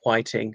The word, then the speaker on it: Whiting: Zeffirelli decided to make the most of the gifts of Leonard Whiting. I think it's pronounced Whiting, not Whiting, and indeed Olivia Hussey,